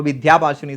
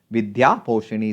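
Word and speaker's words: വിദ്യാപോഷിണി: പറയുമ്പോൾ കുറച്ചുകൂടി സുഖമുണ്ടല്ലേ അപ്പോ വിദ്യാഭാഷണി സഭ ആരുടേതാണ് എന്ന് ചോദിച്ചാൽ സഹോദരൻ അയ്യപ്പന്റെ ആണ് കേട്ടോ സഹോദരൻ അയ്യപ്പന്റെ ഇതും കേരള നവോഥാനത്തിൽ നിന്നുള്ള ചോദ്യമാണ് അപ്പോ സഹോദരൻ അയ്യപ്പനാണ് വിദ്യാപോഷണി സഭ അല്ലെങ്കിൽ വിദ്യാഭാഷിണി സഭ വിദ്യാപോഷണിയാണ് കറക്റ്റ് ആയിട്ട് നമുക്ക് ഉച്ചാരണം വരുന്നത് അപ്പോ സഹോദരൻ അയ്യപ്പനാണ് ഇത്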